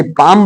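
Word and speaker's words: palm: Fock means लोक बाम इसे बाम बोलेंगे इसे पाम बोलेंगे है ना और इसे काम आदमी कता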